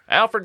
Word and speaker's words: Alferd: And I'm not saying it wrong. It's some people say Alfred, right? Alfred was obviously his name, but he kind of embraced Alferd for whatever reason in his later years.